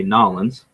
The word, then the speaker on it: New Orleans: We will be going to New Orleans, or as they say, Nolans. I'm going to have to start saying it right.